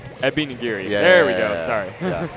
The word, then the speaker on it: Ebi Nigiri: out on the side of how do you pronounce it help me out I'm trying not to Abby nigiri Epi nagiri yeah there we go sorry I know it's